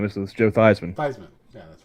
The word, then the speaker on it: Theismann: no no it wasn't name this was joe theismann yeah that's right yep it's i was i